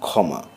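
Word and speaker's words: ক্ষমা: ক খ আকার ইত্যাদি শব্দের গোড়ায় এর উচ্চারণে খ এর মত দ্বিতীয়ের মত শোনায় যেমন খমা খ ম আকার ক্ষীর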